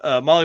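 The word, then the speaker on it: MAHLE: And for the podcast listeners, Molly is spelled M-A-H-L-E.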